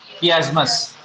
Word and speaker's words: chiasmus: कियास्मस। हाँ, सी एच की sound क ले लेता है, प्रोनाउंसिएशन भी इंग्लिश में एक थोड़ा चैलेंज है।